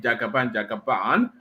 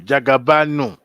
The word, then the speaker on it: Jagaban: So you could hear the excitement in the voice of that person recording it, Jagaban. But when these people say it correctly, Jagabanu. Yes, Jagabanu. That is Lagos for sure.